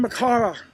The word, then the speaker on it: Makara: Hello there, I'm Makara. That's spelled M-A-K-A-R-A.